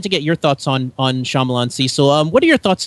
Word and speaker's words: Shyamalan: I'm voicing his name and trying to get the pronunciation of his surname right, and I can never do it. Say it again. Shyamalan.